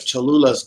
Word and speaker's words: Cholula: I've never had the sweet habanero, but Cholula's good.